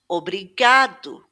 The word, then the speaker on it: obrigado: u Obrigado. Now, in this case, it does at the beginning of the word, it actually has a more closed sound, o.